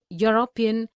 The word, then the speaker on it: European: unicorn a useful article because these words university union european eu unicorn useful begin with a consonant sound similarly we see a